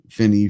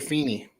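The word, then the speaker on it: Feeny: didn't win um surprise did you say Finny feny FY mispronounce it it's Mr feny just it's just a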